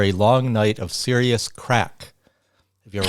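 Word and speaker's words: craic: long night of serious crack have you ever heard the word crack c r it's spelled c r a i c that's an Irish slang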